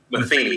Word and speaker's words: Matheny: Is that the right pronunciation? M-E-T-H-E-N-Y. Is that Matheny or Matheny? Matheny. Matheny, okay. Matheny, yes.